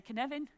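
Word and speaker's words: Cynefin: Say the word Kevin to me. Like Kevin Costner, say Kevin. Put an N in it, say Kenevin. Well, now you can pronounce it.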